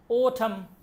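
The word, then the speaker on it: autumn: ওঠম ওঠম summer rainy ওঠম late ওঠম late late ওঠম আমি আবার বলতেছি কোনটার উচ্চারণ হবে না এইযে এন উচ্চারণ হবে না এন উচ্চারণ হবে না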